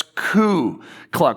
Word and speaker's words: Klux: speak is Klux Clan I always want to say clue cluck Clan but it's C cluck Clan so if you listen